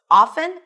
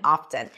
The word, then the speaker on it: often: However, we have seen that the T started to come back. At some point, it started becoming a valid and acceptable pronunciation, and now you'll hear both, often and often.